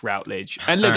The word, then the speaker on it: Routledge: If it's the same as the academic publisher, which is spelled the same, then it's Routledge.